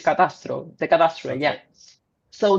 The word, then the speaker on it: catastro: The cadastre, yeah, in Spanish it's catastro, the cadastre, Okay.